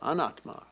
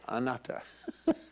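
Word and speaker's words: anattā: the sense of non-self anetha or if we mispronounce it in pali then we'd say anata in ancient india there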